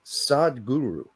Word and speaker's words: Sadhguru: in her pretty intense podcast, his name is Sadhguru, like S-A-D-H Guru. Sadhguru. Maybe he pronounced it Sadhguru.